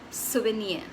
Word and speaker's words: souvenir: The R is optional, but if you're going to pronounce it, it has to be a half R, like the ka.